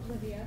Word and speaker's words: Livia: Okay, let's go to, am I pronouncing this right, Livia, or is it Livia? Livia. Livia Greenberg at Stratton Mountain School.